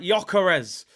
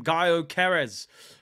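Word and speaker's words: Gyökeres: talk about man like joarez two days ago I couldn't even say his name right I was calling him guo KES um but listen I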